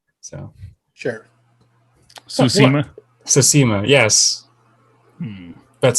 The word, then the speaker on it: Tsushima: Tsushima, yes.